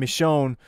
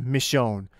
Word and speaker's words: Michonne: names so it's it's I believe it's pronounced michon so her and Daryl like